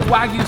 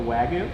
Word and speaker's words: wagyu: do you say next making a wagoon you put the wrong emphasis on the wrong syllable nick is making a wagyu i think we should